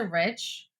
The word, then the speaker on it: Reich: So switching it to Rich, which is not the way it looks, is really hard for me. in my nearly 45 years on this earth, I've heard every single pronunciation of my last name except for Rich.